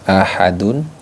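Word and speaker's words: أحد: disebut dengan Qalqalah kubra Bagaimana cara membacanya ahadunnya ya ahadun Awalnya ahadun dia menjadi Ahad nah dalnya ini di pantulkan diqolqolahkan ya dipantulkan seperti itu teman-teman ahad ahad jadi yang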